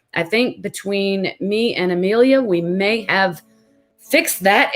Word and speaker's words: Emilia: Amelia? Yeah. Okay, thank you. I didn't want to mispronounce it.